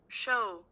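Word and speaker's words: shew: of show show o s h e w show oh so showed it's just showed but it's spelled shed oldfashioned spelling of show that's what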